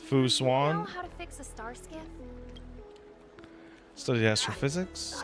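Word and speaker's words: Fu Xuan: to say it I'm bad at it it's Foo swan Stars so yes for physics I'm not a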